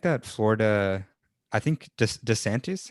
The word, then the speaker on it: DeSantis: i just think that florida i think just desantis how do you say that governor's name oh yeah desantis the governor there yeah i think he's he's